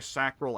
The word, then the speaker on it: sacral: It just occurred to me, that's probably sacral as in the word sacrament. Which you pronounce it sacrament, not sacrament. So it should be Sacral Vigor.